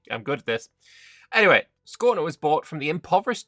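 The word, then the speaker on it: Skåne: say this word and they say scain or scan. Yeah, scorner. Scorner. Yeah. This this a with a circle above it. See, I'm good at this. Anyway, scorner was bought from the impoverished Danes just a few years ago.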